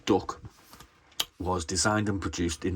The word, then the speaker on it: DUKW: The DUKW, popularly pronounced "duck", was designed and produced